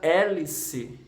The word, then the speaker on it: hélice: B Vejam a palavra hélice hélice hlc e tem seis letras 6 letras mas ela só tem 5 fonemas porque o h você não pronuncia você escreve a letra